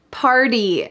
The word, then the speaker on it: party: game last night party party notice that the t changes to a d here in american english in my opinion there